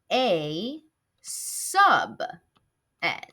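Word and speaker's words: aₙ: called a subscript and that's pronounced a sub n sub coming from as you guessed subscript okay so now again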